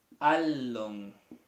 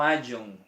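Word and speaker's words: ἄλλον: Alon, no ayon, esto no se ve como y o doble L en castellano.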